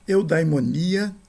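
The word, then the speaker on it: εὐδαιμονία: Primeiro, eudaimonia, né, que significa boa vida. Espírito fraco, sem aspiração.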